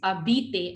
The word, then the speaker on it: habiter: H is silent. So we call this habiter.